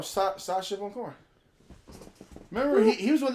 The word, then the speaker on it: Sacha Baron Cohen: Sasha Bowen Cohen. That's how you say his name? Are you making up shit? No, Sacha Baron Cohen.